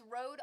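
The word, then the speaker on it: Rode: please do honestly uh Road pod mic pod p o d pod mic and it's Road r o d e is how they spell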